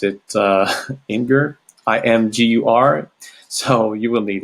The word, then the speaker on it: Imgur: I don't know if you guys in English pronounce it Imgur, IMGUR.